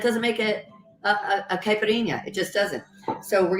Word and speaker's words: caipirinha: actually pronouncing that right I do know I'm pronouncing kashasa right and caipirinha um but it is not wrong you're probably